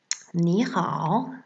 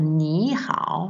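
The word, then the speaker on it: 你好: La première, c'est pour ni hao, le ni, normalement c'est un 3e ton, ni. Mais quand il y a 2 fois 3e ton, le premier se transforme en 2e ton.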